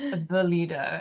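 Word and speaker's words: Weleda: I really like the company Weallda. It's a German company and it's, we'll put it in the show notes, but I'm gonna learn how to spell it. Weallda. It's pronounced Weallda in German because they pronounce.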